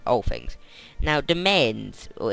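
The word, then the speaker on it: demesne: like all things now domains or it's actually pronounced domain slightly slightly different to main it's like domain it sounds like domain but it's B this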